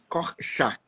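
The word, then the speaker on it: Korczak: Eu pronuncio corks, mas se você for falar em idos corcha, mas eu mando escritinho para você.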